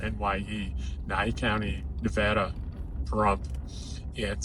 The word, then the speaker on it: Nye: It's spelled NYE, Nye County, Nevada, Pahrump.